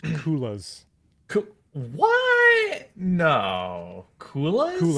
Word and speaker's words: coulis: It's pronounced coulis. What? No. Coulis? Coulis.